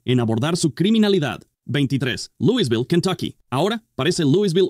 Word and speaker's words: Louisville: mucha gente lo llama si no eres de allí y quieres molestar a los locales llámalo Louisville ellos le ponen su toque sureño al decirlo es Louisville y ni siquiera puedo